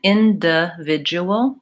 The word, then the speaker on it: individual: So in is the stress syllable, individual, and I use the schwa there, individual. Oftentimes the reduced vowel is either a schwa, the as you were indicating, or it's vowel I. So individual or individual. And there's some variation in which one people use in that word.